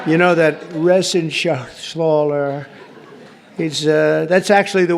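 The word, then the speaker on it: Reschenthaler: John David Joyce David thank you and Guy Ren Shaler you know that Ren Shaler he's uh that's actually the way you pronounce it you know nobody else gets it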